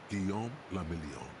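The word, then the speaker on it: Guillaume Le Million: Guom Lamelon. If it doesn't rhyme, you're not pronouncing it right.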